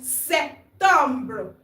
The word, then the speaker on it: Septembre: The P in September is not pronounced. The P is silent. Le P est silence. Le P is silent. Septembre.